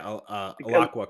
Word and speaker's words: Alaqua: Even Aliqua, is that how you say her name? Oh yeah. Alaqua Cox.